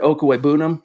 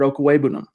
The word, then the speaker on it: Okwuegbunam: zack we knew that albert okawebunum nope i said it wrong again albert okuwebunum got banged up yesterday